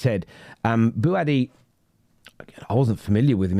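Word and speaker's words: Bouaddi: I want to make sure I'm pronouncing this right. Is it? I'll Google translated this here. Eyal Buadi. Buadi, that's it.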